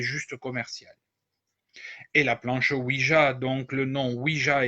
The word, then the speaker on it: Ouija: Le nom Ouija correspond à la juxtaposition du mot oui et ya en allemand. On devrait donc prononcer Ouija et pas Ouija.